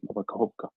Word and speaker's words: Nova Kakhovka: How do you pronounce it? Nova Kakhovka.